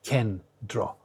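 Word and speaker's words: κέντρο: This is why these two n they don't fuse together to make a d but they are separately pronounced as n and t. So it's kendro rather than kro kro. It's not kro, it's kendra, right?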